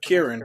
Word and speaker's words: Ciarán: It has a little apostrophe on there, and it's actually pronounced Kieran. Hinds. Oh, Kieran.